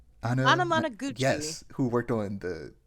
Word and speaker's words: Anamanaguchi: I don't know how to pronounce their name. Anna, Anamanaguchi.